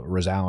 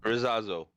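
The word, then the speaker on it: Rzeszów: Um same update on the Rosano airport. Um how do you pronounce that, man? I always screwing that one up. Rosazo.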